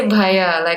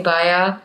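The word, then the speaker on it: Bhaiya: And I couldn't say Bhaya. I would say Baya and get made fun of so much.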